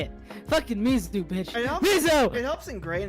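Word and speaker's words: 水: Oh, you said miso. No, I said Mizu.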